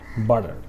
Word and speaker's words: butter: american english okay and it shows that the letter t in american english sometimes sounds like a letter d so americans in british